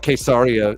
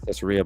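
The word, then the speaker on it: Caesarea: um in cesaria Philippi which is like quesaria is how they say it out there but I've always said it cesaria but they corrected me when I went to Israel they like what are you talking about and I was like they were like oh quaria they were like that's quar I was like oh sorry you know that was always saying it wrong but in that area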